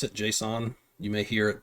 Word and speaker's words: JSON: about Json files JS n that's how I pronounce it Json you may hear it pronounced another way but